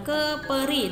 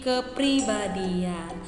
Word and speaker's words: kepribadian: Dan kepribadian, jadi bukan kepri, bukan keperi, tapi kepribadian.